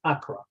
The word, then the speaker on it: Akra: In Greek, it's akra. And by the way, in Hebrew, it's chakra. They pronounce the letter a little bit differently.